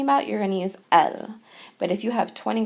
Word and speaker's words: elles: And just like il singular and il plural are pronounced the same way, elle plural and elle singular are pronounced the same way because we aren't pronouncing that S. So elle and elle.